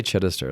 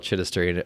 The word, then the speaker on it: Chidester: I can say Chiddister. It's like that's why I say Chiddy because like they can't even spell it.